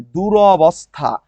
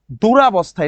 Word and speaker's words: দুরবস্থা: দূরবস্থা। আর second যে ভুলটা হয়েছে সেটা হলো আকার আছে। দূরাবস্থা। এটা দূরাবস্থা হবে না। কি হবে রে? দুরবস্থা হবে। দূরবস্থা।